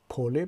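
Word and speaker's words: поле: و کلمه دیگر رو اینجا میبینیم، کلمه پوله که معنایش کشتزار است و زده در این کلمه در هجای اول روی حرف آ آمده است. پوله به همین خاطر آ تلفظ می شود اینجا و شکل جمعش با پسوند ی ساخته شده است.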